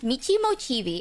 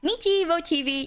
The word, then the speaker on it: Michi Mochievee: streams hi everyone so my name is pronounced Mei mochii I know some people were wondering how to pronounce it it's Mii mochii you can call me